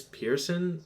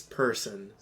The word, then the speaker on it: Pearson: Also, I hated how they're like, Miss Pearson. There's no I, there's no A. It's person. It's Person. Person. No comment. This is not Pearson people. It's person people.